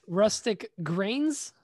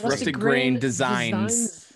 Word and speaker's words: Rusted Grain Designs: yeah you do actually is it rustic grains no busted grain it's rusted grain designs i always say it